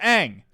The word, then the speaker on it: Aang: seen the show and I know it's pronounced Aang okay everybody knows it's pronounced Aang okay but in the